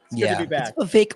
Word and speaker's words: Vivek: that not everybody Grim vake like cake we're in the middle